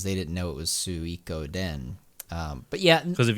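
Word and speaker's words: Suikoden: an idiot but same thing most people say sukoden because they didn't know it was su iko den um but yeah because if you pronounce it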